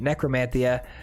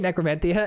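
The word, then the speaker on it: Necromentia: Elspeth's Nightmare and Necromantia. I keep saying Necromantia, and I realized it's actually pronounced Necromantia.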